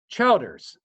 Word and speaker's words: Childers: is it CH how do you say that Childers Alisa Childers Alicia Childers anyway c h i